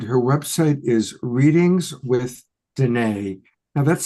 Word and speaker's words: Danae: And her website is Readings with Danae. Now that's spelled Denea. Danae, Denea, rhymes with Renee.